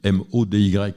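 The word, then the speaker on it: MODY: Quand on dit à un patient vous avez un diabète maudit, ça fait peur parce que ça s'écrit pas m a u d I t, ça s'écrit m Oy.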